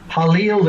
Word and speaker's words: Halil: Is it Jalil? Halil is how I pronounce it.